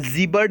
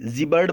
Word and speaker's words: gibbered: यहाँ पे जीबर्ड इसको पढ़ेंगे, GIBBERED, जीबर्ड पढ़ेंगे। जीबर्ड का मतलब होता है बड़बड़ाना।